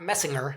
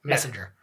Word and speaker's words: Messenger: Not Messinger. It's a soft G. Messenger.